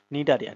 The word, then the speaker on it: Cnidaria: সিক্স তো ছয় number পর্বে আমরা আলোচনা করব নিডারিয়া নিয়ে অর্থাৎ আমার শ্রেণীবিন্যাসের পর্ব কত বলতো শ্রেণীবিন্যাসের পর্ব দুই নিয়ে নিডারিয়া নিয়ে নিডারিয়া বানানটা একটু খেয়াল করো কিন্তু হ্যাঁ সি আছে